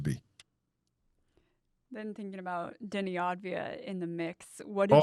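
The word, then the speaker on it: Avdija: Yeah, Advia. That one, that guy. Yep. That's Advia. I always want to, because the letters are backwards.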